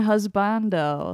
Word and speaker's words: husbando: __ ] lame how how would you pronounce them it's waifu and husbando okay I said husbando